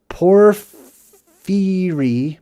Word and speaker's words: porphyry: por- phyry porphyry The pillar of porphyry put in place, changed on the gnarled rock.